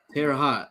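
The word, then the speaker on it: Terre Haute: Um, I don't want to pronounce that city. Uh, Terraot. Terra hot.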